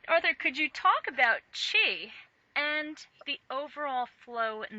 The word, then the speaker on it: Qi: is a it is the word chi Qi is how it's spelled in the uh in the pinion the Chinese government spelling which often makes no sense to us uh some people spell it CH apostrophe I um this so-called life